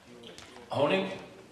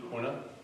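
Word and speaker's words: Honea: But, Honing? Did I say it right? The sheriff? Honing. What? Honing? H-O-N-E-A. E-A. Hona?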